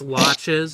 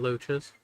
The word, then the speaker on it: loaches: Rainbow trout, sea bass, Also, I believe they're pronounced loches and not loaches.